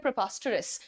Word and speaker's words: preposterous: अब इसमें ओ और अ का साउंड मिक्स हो जाता है दोस्त, मेरी गलती नहीं है, मैंने नहीं बनाई है भाषा, बस मैं आपको सही उच्चारण सिखा रही हूँ। सो यहाँ पर आप बोल सकते हैं प्रोपास्टरस, जितना जल्दी बोलोगे उतना सटीक साउंड करेगा।